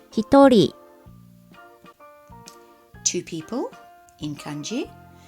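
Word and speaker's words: 一人: exceptions to the rules one person there it is in country and it's pronounced he thorry to people in kanji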